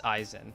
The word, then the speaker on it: Aizen: Oh, it is Aizen. So I did have it right.